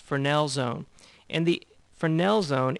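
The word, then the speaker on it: Fresnel: the next term here frel Zone and the S is actually silent so it's pronounced frel I know it's kind of strange it's strange to me but that's how it's pronounced Fel Zone and the fernel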